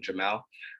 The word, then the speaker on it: Jamel: uh so yeah as mentioned my name is Jamal pronounce him his and my name Jamal um I am wearing a button-down shirt with